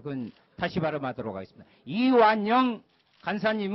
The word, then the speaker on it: 이완영: 다시 바로 하도록 하겠습니다 이완영 간사님 은 이 부분에 대해서 자기 없음을 말씀 드리고자 합니다 정의당 의 비례대표 소속이 유소아 의원 이완 한의원을 찾고 이완용 이라고 발음을 해서 저게 지금 예 사례